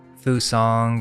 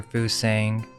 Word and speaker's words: Fusang: elixir of life I've heard it pronounced a few different ways Fu song or Fu sing but apparently two expeditions